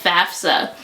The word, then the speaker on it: FAFSA: It's FAFSA, not FAFSA, but we gonna go with it.